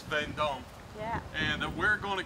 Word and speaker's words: Veendam: Is that how it's pronounced? Veendam. Veendam? Veendam, yes. Veendam. That's not how it's spelled in English, but... But in Dutch, it's Veendam.